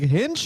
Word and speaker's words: Hinch: that a thing yeah he kept saying hitch and someone was like hinch and i was like